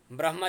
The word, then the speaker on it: ब्रह्म: ब्रह्मचर्य बाबाजी, हजुर आधा ह उच्चारण गर्नुस् न ब्र पछि। ब्रह हो त्यस्तै, ब्रह्म आधा ह उच्चारण गर्नुस् ब्र ब्रह्म ब्रह्म। त्यसमा चाहिँ हामीले भन्नाले मैले म समेतका धेरै जसो हामीहरूमा कतिपयहरूमा भनौँ पहिला ब्रह्म ह भन्न खोजिन्छ, त्यो गलत हुन्छ।